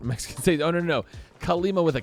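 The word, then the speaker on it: Kalima: Kale Lima with a K.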